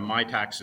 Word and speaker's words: Mitacs: so first of all I have to correct a misinterpretation that my tax is spelled m-i-t-a-c-s right not an accountant